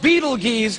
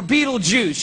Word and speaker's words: Betelgeuse: heard about this star it's called beetle G's or Beetle Juice you can pick your pronunciation I'm obviously going with Betelgeuse and Betelgeuse is incredible